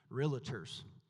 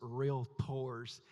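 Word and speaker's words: Realtors: And uh I made the mistake of addressing and saying realators and David said at the end he said if you're going to sell to real tours you need to know how to say it. So it's real tours.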